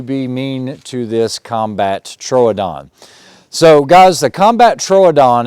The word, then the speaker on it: Troodon: body and it's also a little fatter correct pronunciation is a combat Troodon Troodon means wounding tooth or it's kind of like